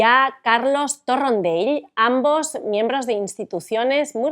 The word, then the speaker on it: Torrendell: Pronunciaste mi apellido como se pronuncia en Cataluña. A la perfección, porque es mallorquín, ¿cierto? Exactamente. Así que lo he pronunciado como se debe.